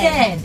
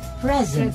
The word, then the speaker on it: present: You see, listeners, the word P-R-E-S-E-N-T can be pronounced 2 ways. Mm-hmm. One is present. Present. Present, if that is a noun. Or, and present. Present. Which is a verb.